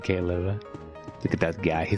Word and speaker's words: Caleb: Caleb, not Caleb, but Caleb.